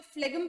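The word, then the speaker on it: phlegm: ठीक है, जिसमें फ्लेगम में एक्चुअली प्रोनाउंसिएशन फ्लेम होता है इसका, क्योंकि ये जी जो है ये साइलेंट होता है. ठीक है, लेकिन कई बार आप लोगों को बहुत सारे लोग फ्लेगम प्रोनाउंस करते हुए दिखेंगे, that will be also okay, पर हम इसे रियल प्रोनाउंसिएशन करेंगे फ्लेम.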